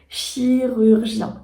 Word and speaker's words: chirurgien: compliqué à prononcer plus on retrouve le U qui peut être aussi assez compliqué selon l'endroit d'où tu viens et on a ce son nasal 1 donc voilà ça